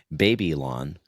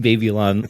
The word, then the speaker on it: Babylon: called Babylon um or maybe the way you might pronounce it is baby lawn I'm not sure what your English I us pronounce that baby Lon like when we were little I'm sure you did um you and your terrets uh so babyon but it's Babylon but let's go and play